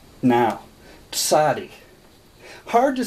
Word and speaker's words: Tsadi: TS is your sound. A-D-E-E. Some people spell it T-S-A-D-E-I. But it is your T-S sound. Tsadi.